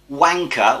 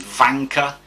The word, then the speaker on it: Wanka: Wanka, although that's how it's spelt, is actually pronounced Vanka, and it means warrior in Peruvian.